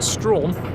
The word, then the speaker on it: Strachan: Strachan is pronounced Strawn.